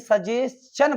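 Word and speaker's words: suggestion: और एक बात और बताई कि अगर एस के बाद TION आता तो भाई सजेशन पढ़ा जाता है, ना कि सजेशन। ऐसे डाइजेशन, सजेशन, डाइजेशन, एस के बाद TION आए तो चन पढ़ते।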